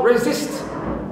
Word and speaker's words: resist: Also, resist, resist. I have E, after it, sa and ta. So here also, in this case, the second syllable is stressed.